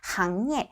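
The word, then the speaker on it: 行业: 상예, 상업이란 뜻, 요건 좀 안 어울릴 것 같고, 항예, 요거 싱이라고 읽지 않도록 주의해 주셔야겠죠. 항예, 업무, 직업, 업종이란 뜻을 가지고 있는데, 요거는 이렇게 따페이 같이 외워주셔야 되세요.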